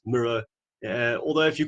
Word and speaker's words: MiRO: who don't know uh the name mirror comes from our founders favorite artist john miro so it's for that reason that if you want to know the correct pronunciation it's mirror although if you call